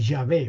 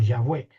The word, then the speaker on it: Yahvé: Entonces, la diríamos la pronunciación sería la de Yahvé o Yahweé, que luego se va